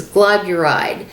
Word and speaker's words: glyburide: I've got it written down because I want to make sure I pronounce it correctly. It's glyburide.